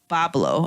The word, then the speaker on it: Boblo: be fine um oh bull bull blow is pronounce Boblo oh sorry Boblo Island Boblo